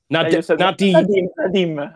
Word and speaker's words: Nadiem: Nadiem, like the Danish female striker. Okay, so Nadiem Amiri.